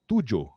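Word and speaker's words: Toojoh: it's not so my company is actually called tujo seven in malay it's not spelled exactly like the word in malay but it's pronounced the company name represents the entire methodology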